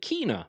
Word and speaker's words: Kena: Kenna, Bridge of Spirits, which they pronounced as Kenna Bridge of Spirits in August last year, but in last night's broadcast they called it Kena Bridge of Spirits.